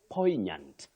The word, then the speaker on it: poignant: at Josh uncore gate you say poignant poignant not poignant that we come only here around us poignant is the pronunciation that is acceptable then we have at